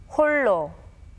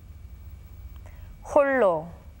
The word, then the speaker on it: 홀로: Notice that the letter that comes after the 리을 받침 remains as it is. When the 받침 리을 clashes with the consonant 리을, the latter sound remains as it is and is pronounced as 리을.